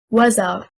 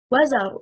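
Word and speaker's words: وزر: The correct stress is on the first حركة, حركة الواو. If we say wazar, it becomes 2 words, a conjunctive waw plus zar, a verb. We separate the word into 2 words.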